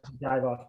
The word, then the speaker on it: Divoff: jeff's shoulder now uh andrew divoff i think is how you pronounce his last name yes dive off okay um he plays